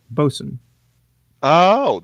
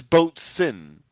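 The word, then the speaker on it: boatswain: aboard really learn something new boson spelled b-o-a-t-s-w-a-i-n Boson oh that's how you pronounce that I thought it was oat swing but it's not supposed no I thought it was boat sin you pronounced the T but it was the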